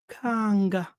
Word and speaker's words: kanga: This word kagar, it is the Kikongo kanga. You see that? So kagar is the Kikongo kanga. We don't pronounce the R at the end.